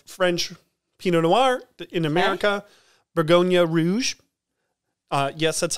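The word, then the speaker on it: Bourgogne Rouge: find bottle of french pinot noir in america bergonia rouge uh yes that's how you pronounce it oh i was like i'm looking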